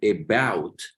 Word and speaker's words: about: La A la vamos a pronunciar como E. Luego la O y la U la vamos a pronunciar como AU. Y se pronuncia así, about, así se pronuncia.